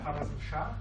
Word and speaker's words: Khwarazm Shah: So I read that was Genghis Khan's first attack at, pardon my pronunciation here, at the Khwarazm Shah capital. Yeah. Khwarazm Shah, yes.